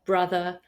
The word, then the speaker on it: brother: For example, words like come, done, some, money, honey, mother, brother, oven, these are all pronounced with the sound A, not the O that you see in the writing.